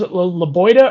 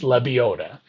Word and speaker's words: Lebiota: his name right and it's lebiota i i was i'd ask people's la boita or laboda and they're like neither andy it's lebiota loviota florida state kid plus 320 for top 30.